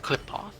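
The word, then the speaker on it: Qlipoth: Oh, it's pronounced Klipoth.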